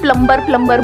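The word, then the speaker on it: plumber: सर जैसे प्लम्बर, सब लोग प्लम्बर बोलते हैं हमारे देश में, बढ़िया है यार, क्या दिक्कत है? बी साइलेंट है उसमें, प्लम्बर ही तो होता है।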